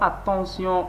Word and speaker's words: attention: Donc, vous voyez ici, on prononce T par S. Donc, ce syllabe se prononce par sion. Attention, attention.